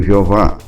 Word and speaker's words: Jeová: Alguns pronunciam Jeová, outros Javé, mas o fato é que